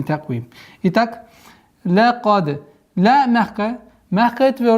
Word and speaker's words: تقويم: Таквим. Мягкий и твердый. Каф, твердый звук, плюс еще правило калькаля.